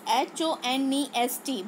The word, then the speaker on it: honest: Okay, so honest, the spelling is H-O-N-E-S-T, but we pronounce honest. Okay, so O, here H is silent.